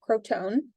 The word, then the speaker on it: Crotone: He then went on and founded a philosophical and religious school in Croton, now Crotone, that's how it's pronounced now, that had many, many followers.